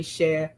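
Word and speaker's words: cher: So the first word is c h e r she and it is just a term of endearment just means sweetie or dear heart or my darling one. It's she somebody some people say she rhymes with chair.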